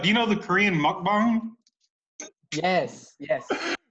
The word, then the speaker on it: mukbang: Hey, this reminds me of, do you know the Korean mukbang? Yes. Mukbang, this is yes. What this reminds me of. Did I pronounce it right, Jason?